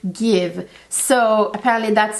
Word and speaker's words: GXVE: stefani's new makeup line give it's actually g x v e that's how it's spelled but it's apparently pronounced give so apparently that's how she signs her name gx so it's give it's kind of play